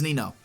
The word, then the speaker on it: Nino: or I don't know some people have different words pronunciations Nino noo noo it's Nino okay going on to